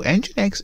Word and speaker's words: nginx: just like that so i always get this name wrong so enginex is simply a web